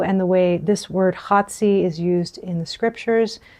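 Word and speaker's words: חֲצִי: So, in the midst of the week, the word for midst is chatzi. That's chet, sade, and yod. So chatzi.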